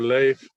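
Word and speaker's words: Leif: pronouncing your name correctly is it leaf or am i responsing that yeah leaf or life leaf okay yeah i leave life is another pronunciation of it i know when he's swedish they they say life i am swiss guy i will say life okay life is good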